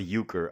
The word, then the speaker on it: euchre: europe perhaps perhaps germany i also would not pronounce that correctly if i just saw it written yes it's euchre we're good i don't